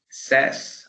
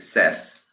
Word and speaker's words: says: Say, says. Así se dice says.